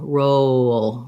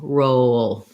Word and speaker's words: roll: easy to think about the word row and then the sound oh roll roll don't don't exaggerate the w too much but you're naturally going to have that glide coming in when you move from the o to the little schwa we have before a dark l um and then your